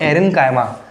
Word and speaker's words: aerenchyma: और अगर in space के बीच में ज़्यादा मात्रा में एयर आ जाती है तो इसको कहते हैं एरेनकाइमा।